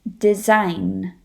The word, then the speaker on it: design: letter n for example design sign foreign the g is not pronounced it is silent next up is related